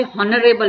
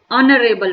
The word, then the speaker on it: honourable: अब बहुत सारे बच्चे तो ऐसे हॉनरेबल बोल देते हैं, नो, ऑनरेबल person, H silent है, एन ऑनरेबल पर्सन।